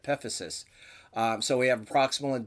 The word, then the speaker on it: epiphysis: So if we take a look at the list, we have the ends of the bones, epiphysis, that's how that word is pronounced, epiphysis.